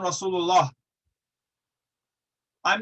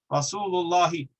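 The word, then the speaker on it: رسول الله: If I say Muhammadun Rasulullah, I'm not stopping because there's not a kasra. There's a kasra there. I'm just not saying it because the habit and the custom in Arabic is to not pronounce the final harakah.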